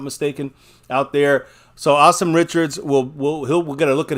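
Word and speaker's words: Asim Richards: Awesome Richards is how you say his name. Yeah. Awesome Richards.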